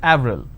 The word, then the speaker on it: Avril: it's it's a month right in French it's pronounced that Avril the name Clement is pronounced as clemor in